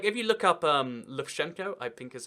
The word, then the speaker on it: Lukashenko: But like, if you look up Lukashenko, I think is how you pronounce his name, it really is quite clear that like that's his thing.